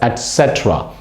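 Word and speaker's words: etc.: word is pronounced as etc it is not etc all right it's not acceptra etc etc there is no car sound okay etc all right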